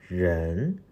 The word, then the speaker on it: 人: Its pronunciation is 人人人.